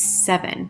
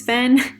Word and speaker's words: Sevyn: Also, please note that the correct pronunciation of this wig is 7, just like the number 7. So I was thinking it was SEVYN.